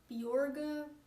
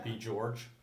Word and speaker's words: Bjorga: It's supposed to be pronounced Bjorga, but it's too hard for Getting people Americans to say Bjorg. I'm thinking Yeah. B. George Oh yeah, I've heard that one a lot.